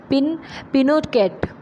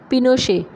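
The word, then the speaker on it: Pinochet: सकता था, general Augusto पिनोकेट, pronounced पिनोशे, पिनोकेट नाम है इनका, लेकिन इनको हम अगर वहाँ की लैंग्वेज में बोलेंगे, चिली लैंग्वेज में, तो पिनोशे इनका नाम होगा।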